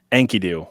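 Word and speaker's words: Enkidu: How How do you pronounce it? Ankidoo.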